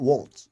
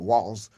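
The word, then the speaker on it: Walz: uh and uh and wals not Waltz with the T but walls with you know w a LZ walls right uh they were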